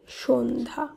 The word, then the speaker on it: সন্ধ্যা: আর দন্তস দন্ত নয় ধয় জফলা আকার, এর শুদ্ধ উচ্চারণ সন্ধ্যা।